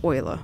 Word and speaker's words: Eule: e-u-l-e I think but it's pronounced oila which is German for owl that's another replica type